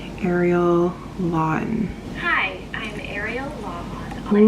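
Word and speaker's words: Lawhon: How to pronounce Ariel Lawin. Hi, I'm Ariel Lawin. Lawin.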